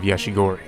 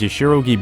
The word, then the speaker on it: Yashirogi: misaki's neighboring town of yashigori or excuse me i always get that name wrong whoa its name was yashirogi bread and kitsy land